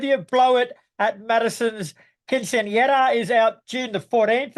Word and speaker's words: Quinceañera: Blow It at Madison's Quinceañera is out June the 14th, and it's another slab of excellent from me personally. Gimme, gimme. So do yourselves a favor and Well said. Well said. Quinceañera, you said it.